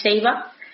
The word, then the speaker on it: Saba: Pero bueno, en esta misma zona también os quería mencionar muy brevemente una isla que es Ceiba y que se escribe Saba, que nada, es súper pequeña, unos 13 kilómetros cuadrados, y es una isla sin playas.